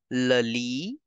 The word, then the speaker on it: lit: T in the end is for decoration. So you will say bed simply as lali for the bed.